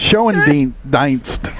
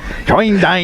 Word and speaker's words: Schoendienst: Schoendienst. Schoendienst.